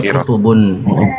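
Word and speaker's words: كتب: Jadi nakirah dia bacanya kutubun. Nah bacanya bacanya tu gini. Bacaannya itu gini. Ah, itu dia bacaannya kutubun. Kenapa dibaca kutubun? Karena enggak ada alif lamnya.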